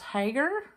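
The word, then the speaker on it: Haeger: And the third item that sold was this vintage, I guess it's pronounced Hager, H-A-E-G-E-R, Hager.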